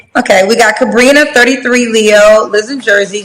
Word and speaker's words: Sabrina: So is it Sabrina? Am I saying it right? Yes, that's right. Okay, we got Sabrina, 33, Leo, lives in Jersey, general manager, mom to a 14-year-old, never married.